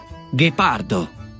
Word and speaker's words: Ghepardo: Y para lograr la pronunciación G y G del español, hay que combinar G con H en italiano. Ghepardo. Ghiaccio.